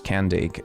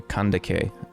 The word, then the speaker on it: Kandake: can take Amani renas I don't think actually that this is pronounced as candic I think it should be closer to kandake so she is perhaps